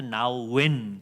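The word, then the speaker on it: Nouwen: 헬리 나윈이라는 분이 있어요 우리나라에서 나윈 그렇게 하는데 천주교 신부님이십니다 근데 그 홈페이지에 보면 나윈이라고 발음해 주도록 돼 있습니다 헨리 나인이 아주 어릴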